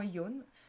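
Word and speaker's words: 四: Alors il y a plusieurs façons de prononcer yon, enfin 4 pardon. On n'utilisera pas souvent shi. J'explique pourquoi, parce que shi en japonais représente la mort. Donc on utilisera plus souvent yon. Nana, shichi, shichi c'est la même chose aussi.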